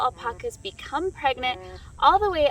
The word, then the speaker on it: alpaca: how people say it these animals did originate in south america and so it is a spanish word and it is pronounced alpaca so think of taco